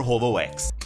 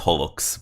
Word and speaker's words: HoloX: And just like that, Towa-sama took over HoloX. Back then I didn't know how to pronounce it. Now I know it's Holox, but back then I still said HoloX.